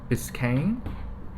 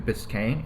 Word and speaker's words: Biscayne: is the 59 Chevy Biscayne I think that's how you pronounce it if I remember correctly I actually looked up